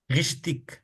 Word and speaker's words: richtig: हमने एक पीछे देखा था ना, जब भी गे आ जाए एंड में तो वो खा आवाज निकलता है। विंडिक, नेबलिक, विश्तिक, वेनिक, रिश्तिक, जेशिक।